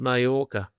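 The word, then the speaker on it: Mallorca: I can see that Nick Curios has been provisionally suspended after he submitted a sample in June in Mayora. Spelled Malora, but it's pronounced Mayora.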